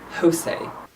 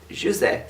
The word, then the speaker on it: José: So you pronounce the J. He's not Spanish, because I've seen people pronouncing it José. That's a Spanish thing. In Portugal you pronounce the J. So he's José Saramago.